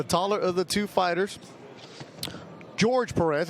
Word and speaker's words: Jorge: George Perez. It's spelled J O R G, but he says it's George Perez.